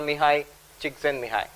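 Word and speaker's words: Csikszentmihalyi: Shahar and also incidentally the work of Professor mihai Chen Mii and yes that's how you pronounce it I have referred to Professor seligman's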